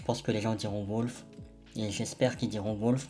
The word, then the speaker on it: Wulf: C'est pour ça qu'on s'appelle à présent Wilder Wolf. En vrai, ça s'écrit Wulf mais je pense que les gens diront Wolf et j'espère qu'ils diront Wolf parce que c'est le but.